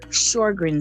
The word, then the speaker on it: Sjögren: mimics other diseases shorgren syndrome and that's spelled s j o g r e n e s and it is in